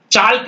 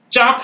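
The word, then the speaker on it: chalk: बिल्कुल नहीं बोलना है यह है चौक जो लिखते हैं चालक नहीं है चौक है क्योंकि ए के बाद ल आया हुआ है ये फॉक ये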